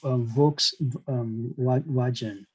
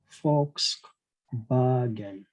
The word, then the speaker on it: Volkswagen: i used to pronounce um vw as um vox version that's the way to pronounce it but the actual pronunciation is fox fox bargain volkswagen so that's how it is pronounced so